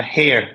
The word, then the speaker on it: Hare: I also saw the release of the Ocean Master Oliver Her. Is that how you pronounce the last name? Oliver Her? Hare, Uh, yeah, Oliver yeah, Hare.